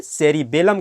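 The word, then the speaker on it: cerebellum: जिसको सेरिबेलम कहते हैं, ध्यान रखेंगे कि इसको हम सेरिब्रम कहते हैं और इसकी उच्चारण जो है ये सेरिबेलम कहलाती है, जिसको हम लोग अनुमस्तिष्क कहते हैं।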